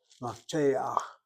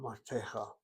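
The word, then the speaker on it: מפתח: It's pronounced before the last letter. Mafteach, not maftecha.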